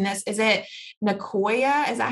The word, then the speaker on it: Nicoya: you might have a better job of um pronouncing this is it ncoa is that how you pronounce it yeah that's